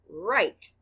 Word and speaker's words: write: r i t e the letters w r stand for the sound er the letter i stands for the long i sound i the e is silent blend with me right